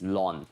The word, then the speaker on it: ln: e is ln and very often ln is pronounced as lon so this long of